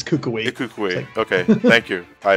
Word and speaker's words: Kukui: It's Kukui because that's what I've been correct. As soon as I first said it, I had Hawaiians actually come up to me and say it's Kukui.